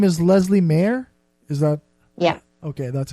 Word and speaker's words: Leslea Mair: interview so here it is my interview with Leslie Mayer your name is Leslie mayor is that yeah okay that's how you pronounce that yeah Leslie Mann and the name